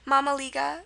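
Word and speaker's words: mămăligă: item and Mama Liga again spelled how it sounds your a sound is going to be spelled with an a your schwa is also spelled with an A and your e is going to be spelled with an i and that's typical of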